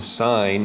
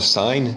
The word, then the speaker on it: sine: angle a so the sine of angle a which you spell it's kind of weird that you spell it s-i-n it's not pronounced sin it's pronounced sine in this case it's